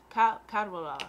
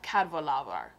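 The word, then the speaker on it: Cadwaladr: Cadvalder. Dragon, which is called the Dragon of Cadvalder. Cadvalder. The C is kind of like a G.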